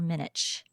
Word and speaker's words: Minich: I'm saying this right is it Dr minck or Dr minich minic you've got it okay I said it